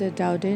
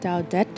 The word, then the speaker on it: Daudet: It's a French name, so that is why it is pronounced as Alphonse Daudet, not Daudet, because according to the spelling, T is there.